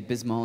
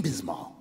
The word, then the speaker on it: Bismol: yeah yeah Pepto B well you don't say B say the whole first syllable of the second word Biz Biz B what